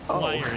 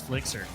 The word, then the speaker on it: Flixer: Flyer is not Flyer. Flyer is Flixer.